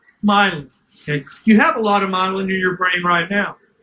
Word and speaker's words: myelin: It starts secreting a substance called, can you figure out how to pronounce that? Myelin. Myelin.